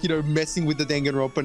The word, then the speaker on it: Danganronpa: Yeah, so Danganronpa V3 basically confirmed that it's pronounced Danganronpa. Yeah, I still pronounce it Danganronpa because of the Of course it's Danganronpa.